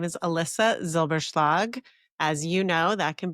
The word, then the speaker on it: Elissa Zylbershlag: Well, my name is Alyssa Zilberg. As you know, that can be a hard name to pronounce.